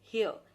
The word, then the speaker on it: hair: बाल की इंग्लिश होती है हेयर, HAIR हेयर। ठीक है, आर जो है वो साइलेंट होता है, हेयर मत बोलना है इसको, हेयर नहीं।